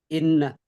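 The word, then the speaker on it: إنّ: Ini anna apa inna? Inna. Oke, kenapa dibaca inna enggak anna? Di awal kalimat. Oke, di awal kalimat. Ibtidaul kalam ya bacanya inna.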